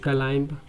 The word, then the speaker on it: climb: अगर एम के बाद बी आ जाए तो बी को साइलेंट कर देते हैं। जैसे COMB कॉम्ब, BOMB bomb, CLIMB क्लाइंब, DUMB डम।